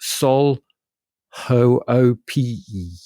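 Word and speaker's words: Sol Hoopii: It is a track by the artist called Sol, and I'm going to try and pronounce this, Sol Hoope. And that's not how it's spelled. It's spelled SOLHOOPII.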